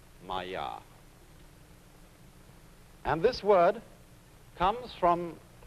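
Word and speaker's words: माया: Pronounced Maya.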